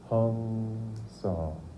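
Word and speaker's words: Hong-Sau: But the way that my guru, my teacher, Paramahansa Yogananda, used to put it was Hong So.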